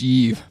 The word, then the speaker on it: Yves: So, except it's pronounced Yves.